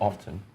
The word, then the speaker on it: often: Often or often. In the Queen's way of pronouncing that particular, she goes often. Often. That ascribing that sound a long O Long O sound.